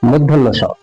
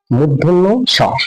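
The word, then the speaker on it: মূর্ধন্য ষ: even এখনো ভুল হয় এটাকে ছোট থেকে জেনে আসছি পেট কাটা মধ্যন্য স প্যাট কাটা মধ্যান্য স তবে এর কারণ হচ্ছে এই সটা ছুটি কাটা আছে কিন্তু আসলে এর নামটা হচ্ছে মুধন্য স মুধন্য স এখন যে অক্ষ দেখতে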